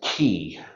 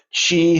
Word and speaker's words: Qi: the internal organs now Chi spelled Qi looks like it should be pronounced key but it's c-h-e-e she the rough uh translation